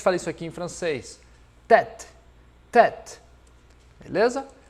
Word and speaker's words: tête: Como se eu estivesse utilizando o E acento agudo, tá bom?